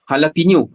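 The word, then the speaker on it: jalapeño: So lepas tu macam jalapeno, dia punya ejaan dia J tapi dia jadi H.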